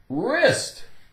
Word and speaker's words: wrist: sort of thing wreckage wrist wrist W the W is silent are RUP RUP i